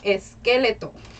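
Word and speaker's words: esqueleto: say this in spanish for the skeleton we say es skeleto so very similar huh we're going to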